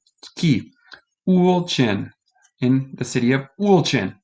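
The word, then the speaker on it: Ulcinj: The house is in the city of, this is a tough word, so I'm going to go here of the pronunciation key. Ulcin, in the city of Ulcin.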